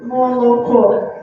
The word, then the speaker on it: молоко: And I'm sorry, the stress here is not right in your paper because it's over here. Sorry, it's the last syllable. There is a mistake in your paper. So my slide is correct. Your paper has a mistake. Could you please change the stress? You see, it should be here. It should be the last syllable that is stressed in the word milk.